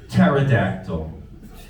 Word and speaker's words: pterodactyl: Today's lesson is pterodactyl. Wait, there's a P in it? Yes, Helen, the P is silent.